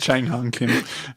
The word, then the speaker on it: Chang Hung Kim: I think it's just Chang Hung Kim. I'm just laughing. It is. I'm Yeah, just that's like, such a simple pronunciation.